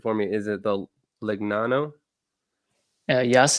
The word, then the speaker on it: Legnano: How did you ultimately end up signed by, pronounce it for me? Is it the Legnano? Yes, it's Legnano, but it's good.